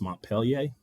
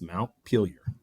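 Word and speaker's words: Montpelier: of Vermont, which I had always thought was pronounced Mont Pelier, but now with Alexa and Siri, you can actually ask and it's actually pronounced Mount Peelier.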